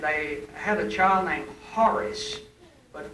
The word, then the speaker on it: Horace: had a child named Horace, but when the Cockney pronunciation came out, it was Aris, because they did not pronounce the H in Horace.